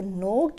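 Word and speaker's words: knocked: कौन दस्तक देता है तो नोक्ड में के साइलेंट है ठीक है नेक्स्ट है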